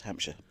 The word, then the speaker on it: Hampshire: Hampshire if you're very if you're very Posh it's Hamshire Hamshire yeah but those of us that live there is just Hampshire yeah yeah so you